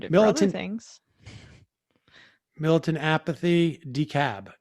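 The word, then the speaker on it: DeKalb: two things milton apathy decab not decalb all right fair enough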